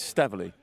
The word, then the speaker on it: Staveley: So it's Staveley. Staveley. Stave. Like grave.